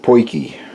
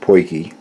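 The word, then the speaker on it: potjie: off it is pronounced pokey and it's an Afrikaans word from South Africa but it is spelled P o T Jie and in their language the Afrikaans language is pronounced pokey this is called a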